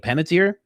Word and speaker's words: Panettiere: I was like, "Oh, little did you know, my wife already she said it to me because I was like, Hayden Pennis something." My wife's like, "Penniter."